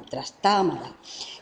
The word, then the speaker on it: Trastámara: misma Dinastía los trastámara os recuerdo que en algunos libros aparecen sin acento en otro aparece como esdrújula trastámara eh era Isabel es